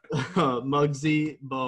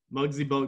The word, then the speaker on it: Muggsy Bogues: Does his name rhyme with Bugsy Logs?